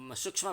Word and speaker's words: सूक्ष्म: हो ज्ञ भनेर भन्छौँ, त्यस्तै सूक्ष्ममा पनि अलिकति करस मिसिएको जस्तो जस्तो उच्चारण हुन्छ। सूक्ष्म छ, छाता छ होइन कि क्षम कस यस्तो सूक्ष्म यस्तो खाले।